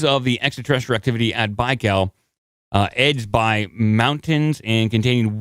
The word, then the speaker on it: Baikal: It's pronounced Laurel. Laurel? Lake Laurel? It's Baikal. Baikal.